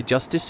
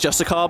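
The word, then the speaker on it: Justiciar: say I would say justice or hablion is blah blah blah and blah blah blah Justice yeah just and then I got a comment right someone was like um it's pronounced just a car by the way this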